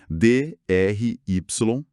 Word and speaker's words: dry: A pronúncia do Y no fim de palavras assim, funcionando como se fosse uma vogal, é bem típico do inglês. Soa como o I que a gente viu em drive.